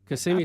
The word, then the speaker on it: Kissimmee: Right, Kissimmee, St.